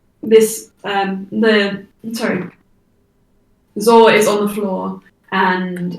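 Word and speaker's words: Zaure: is healed z-a-u-r-e um i previously mistook this name that i made up myself and pronounced it as ball once and i was like why just what and then i realized it wasn't a b hey this is zed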